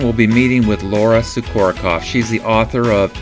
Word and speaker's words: Sukorokoff: I'm here with Laura Sukorokoff. Did I say it right? You did. You nailed it. It was perfect. Laura Sukorokoff, and she wrote the book, It's Not Them, It's You.